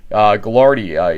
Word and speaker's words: Gagliardi: Gagliardi is the way it's pronounced. In fact, we'll put it on the screen, the phonetic on it. But John Gagliardi passing this year makes this award very special